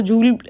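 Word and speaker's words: joule: है that is अ इसको जूल भी प्रोनाउंस करते हैं। जाउल भी प्रोनाउंस करते हैं। इट्स अप टू यू अ 1 जूल इज़ = 1 Newton metre.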